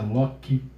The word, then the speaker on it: loci: Ratione loci, a gente escreve loci, mas se pronuncia loci.